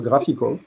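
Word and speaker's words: GraphiQL: GraphQL, je pense que ça se prononce Graphical, qui permet de tester n'importe quelle query, n'importe quelle requête.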